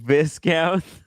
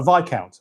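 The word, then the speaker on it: viscount: What a visount. No, V count. A V count. A V count. That's the first one. Yeah, that's how it's pronounced.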